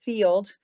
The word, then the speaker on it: FYLD: The first one um is uh an AI tool and it's called uh well, the the acronym is FYLD. It's pronounced Field.